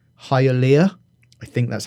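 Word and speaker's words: Hialeah: This guy grew up in, I might say this wrong, Hyia. I think that's how you pronounce it, which is just north of Miami airport.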